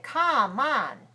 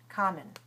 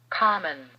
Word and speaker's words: common: it's incorrect to say come on come on that would be incorrect the second syllable is definitely weaker it shows very small